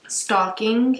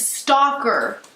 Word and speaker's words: stalking: It's not stalking, it's stalking. How do you say the thing that hangs on the fireplace at Christmas? A stocking. And how do you say this? Stalking. No, it's not the same word. Stocking and stalking. No. Yes, I promise. Because it's stalker. Stalker. No. Like an aw sound. Stalker.